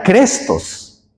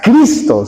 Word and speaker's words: Cristo: de esa época, hermanos, no saben pronunciar el nombre del Señor. No es no era Crestos, era Cristo. ¿Se acuerdan, hermanos? Era Cristo.